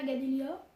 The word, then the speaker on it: Gadelia: la chaîne de ma mère, qui est Katuna Gadelia. Voilà, juste c'est son prénom et son nom. Katuna, ça s'écrit K-H-A-T-O-U-N-A.